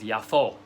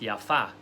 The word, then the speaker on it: Jaffa: the time in peace in jaffa which is also known as yafo it can be pronounced yaffa which basically means beautiful in hebrew or in arabic um and yaffo or yaffa is the